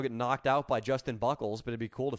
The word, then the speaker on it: Buchholz: How do you pronounce it? Buchholz.